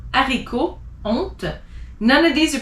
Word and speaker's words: haricot: You don't pronounce the H if it's in the beginning of a word. So as an example, hiver, heure, histoire, hasard, haricot, honte.